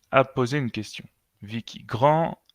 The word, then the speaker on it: grand: Grand termina con D en masculino y ese D no se pronuncia grand.